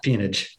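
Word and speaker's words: peonage: uh I'm not going to be able to pronounce it right P ponage got it yeah ponage so maybe you could speak a little bit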